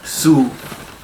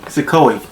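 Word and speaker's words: Suicoke: to learn it for the video's sake, but Suikoi, S-U-I-C-O-K-E, Suikoi.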